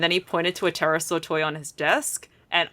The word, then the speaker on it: pterosaur: Um, why can't you hear a terasaur go to the bathroom? I don't know why. Because the P is silent.